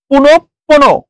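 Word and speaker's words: পুনঃপুনঃ: যেটা ছিল এরপরে পুনর পুনঃপন পুনো পুনো পুনো পু নো আচ্ছা এইখানে যেহেতু স্যার কি আছে বিসর্গ আছে সেই জন্য বিসর্গের পরের যে বর্ণটা আসবে সেটা দুইবার উচ্চারণ হচ্ছে পু নো পু নো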